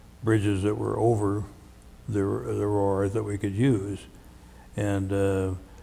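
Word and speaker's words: Roer: I know as the campaign went through Germany, I remember one time we came upon the Rohr, R-O-E-R is the way they spell it, the Rohr River, which in its basic directional flow is north and south.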